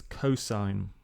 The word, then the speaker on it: cos: So cos of theta, this thing here, you would pronounce this as cosine of theta.